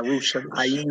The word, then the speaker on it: Yerushalayim: Yeah, Yerushalayim. Right. Yerushalayim. But the yim at the end of it. Yim. Right. Yeah, I got it. Okay. All right. So it's Hamishpaka Zakra Wahi Hauka El Yerushalayim.